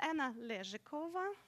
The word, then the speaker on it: Anna Lezhikova: is Anna and then obviously it oh I pronounce it no hello good my name is Anna lyric over okay so I know there's a couple of